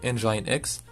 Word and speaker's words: nginx: apache un gain ni ganks prononcer engine ex applications récentes de serveurs